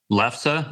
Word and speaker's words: lefse: Also, I don't know how much you guys know about lefse. Have you ever heard of it? Say that lefse, lefse, it's spelled Lefse, but it's pronounced lefse.